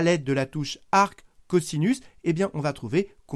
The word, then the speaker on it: cosinus: s'écrit cost ou simplement mais ça se lit caussinus le cosinus de cet